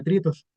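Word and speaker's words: τρίτος: este strong griego o esta palabra tritos se pronuncia tritos y y esta palabra tritos eh se traduce como tercero tercero.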